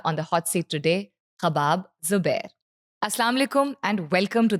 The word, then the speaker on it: Khobab: 99% of people, I think, can't pronounce it correctly. It's either Ghabab, it's Gokab, and Khubaib. Mostly it's Khubaib. People say Khubaib a lot.